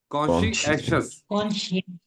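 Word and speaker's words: conscious: ये चारों के चारों जो उसूल है आई गिव माय कस क्स इसका तलफुस क्या होगा क्सियस कॉन्शियस कॉशस कॉशस दो हिस्सों में दो सिलेबल है इसके दो हिस्सों में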